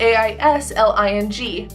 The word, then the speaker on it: Aisling: He said, "We spell it A-I-S-L-I-N-G. You would normally pronounce it Aisling, which is what I am commonly called."